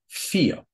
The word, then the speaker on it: vier: The third rule is in originally German words, the V is pronounced like f, just like in the number vier.